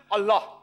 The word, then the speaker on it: Allah: it's their language similarly we know how to pronounce correctly allah they say allah these are no problem the right pronouncer is allah later on when reverend